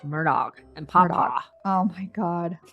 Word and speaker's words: Murdaugh: Ways so you know they say Murdoch Murdoch Murdoch how do you want to pronounce it Gretch I think we ought to say it like like from the words of Alec himself Murdoch and papa oh my